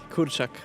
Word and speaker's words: kurczak: Kurczak.